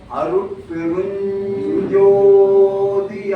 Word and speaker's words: அருட்பெருஞ்சோதி: அப்போ அந்த சா இஞ்சிக்கு பக்கத்துல வந்தா ஜா சவுண்ட் வரும். அப்போ அருட்பெரும் ஜோதின்னு சொல்லக்கூடாது, அருட்பெரும் ஜோதி தான். புரியுதுங்களா? ஆகவே சொல்லும் போது இந்த மந்திரத்தை சரியா உச்சரிக்கணும் தாயே. அருட்பெருஞ்சோதி அருட்பெருஞ்சோதி தனிப்பெரும் கருணை அருட்பெருஞ்சோதி.